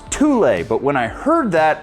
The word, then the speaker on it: Thule: And now they actually have a backpack that they just brought out in collaboration with Fuel. Now, I know it's pronounced Thule, but when I heard that, I rebuked that